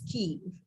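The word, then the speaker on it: quay: the fact that you pronounce q u a y rightly as key may i know how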